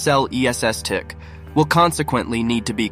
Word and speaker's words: Celestiq: a hand production of celestic pronounced cell ESS tick will consequently need to